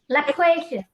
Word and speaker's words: loquacious: Loquacious. Loquacious. Loquacious. Gracious. Loquacious. Exactly. And Second. here you can see the two schwa sounds in the first and the last vowel sound.